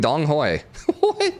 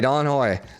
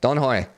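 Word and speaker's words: Đồng Hới: she ended up converting dong hoy sorry don hoy don hoy don't say the g just kind of like you kind of like put the g there but you don't overly pronunciate it it's don joy yeah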